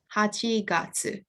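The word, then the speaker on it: 八月: itsuka and august comes at the front it's pronounced hachigatsu so eighth month and fifth day so i'm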